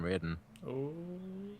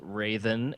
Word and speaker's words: Raidhyn: yeah is your name Raiden why why why why all right so the name is actually pronounced Raven it's soft it was a name